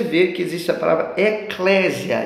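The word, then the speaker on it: ekklesia: que a palavrinha é eclésia. Grava aí, ó, eclésia. Vou soletrar para você, tá? Ó, se escreve com a letra E, aí a letra K duas vezes. E-K-K-L-E-S-I. Eclésia. Então, E-K-K-L-E-S-I-A. Eclésia.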